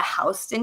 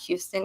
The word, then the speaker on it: Houston: And we got a recommendation to go eat American Burger in they call it Hen here, not Houston, even though it's spelled Houston.